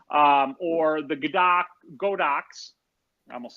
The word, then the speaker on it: Godox: be something like an Alien B or the Godox, I almost said it wrong, the Godox AD200, or some other, bigger, technically portable but fairly large, like studio flash unit.